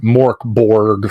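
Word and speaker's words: Mörk Borg: Twilight 2000 for cyberpunk for Vossen for for Mork Borg for um and look I'm sorry that's how it's pronounced m-o-r-k-b-o-r-g Mork Borg you know I got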